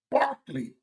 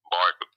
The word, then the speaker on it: Berkeley: this name she said this name is spelled Berkeley but it's pronounced Barkley Barkley it's spell Berkley now